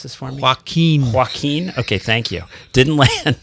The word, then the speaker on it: Joaquin: where everyone is pleased that hurricane can you pronounce this formula joaquin joaquin okay thank you didn't land and create huge